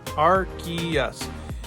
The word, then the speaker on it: Arceus: we have a definitive answer on how it's pronounced. And you can see it right here. It's broken down in phonetic form, Arceus.